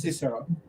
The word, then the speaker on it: Cicero: It's for English pronunciation is Cicero, and I always knew him like Ciceron, and it's quite different in pronunciation.